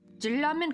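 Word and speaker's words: 진라면: what's funny Jin Ramen according to actually Korean like the grammar words like the rule it should actually be pronounced G Ramen cuz if you have like the n Sound at the end with a next to it it's supposed to make it like a double l sound but gin Ramen is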